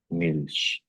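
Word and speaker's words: Milch: तो फिर कौन सी साउंड होगी? शी। तो इस वर्ड को हम प्रोनाउंस करेंगे तो ये होगा मिल। मिल्श। ठीक है?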